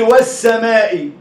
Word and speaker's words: والسماء: عرفت بقى لما ينطق للحرف الزائد بعد منه الحرف متكرر مرتين؟ نطق للواو ونطق للسين متكرر مرتين.